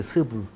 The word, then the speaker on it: 스불: 자, 세겜 땅에 이 발음 조심하셔야 되는데 세겜 땅에 지도자가 세운 장관이 스불이에요. 스불. 발음 세게 하면 안 돼요.